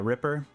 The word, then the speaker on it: Ripper: like that foreign so do you guys pronounce this Ripper or Reaper because I've heard other uh streamers pronounce it differently and I don't really like what what are people calling this because it's I'm pretty sure it's Ripper because it's r-i-p-p-e-r I've heard Reaper multiple times I'm like a thot